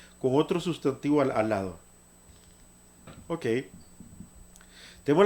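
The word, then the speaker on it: אות: Esto se pronuncia Ot, Ot, eso es consonante en hebreo moderno, Ot.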